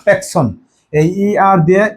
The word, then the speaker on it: personne: no Riya Natu no প্যাকশন নো প্যাকন অনেকে পারসন আছে পারসন না প্যাকন এই আর দিয়ে এ উচ্চারণ হয় প্যাকন ন প্যাকন এখন উচ্চারণ ন